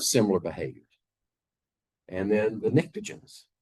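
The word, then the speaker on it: pnictogens: The oxygen group uh they have similar behaviors and then the nicrogens starts with a P but the P is silent.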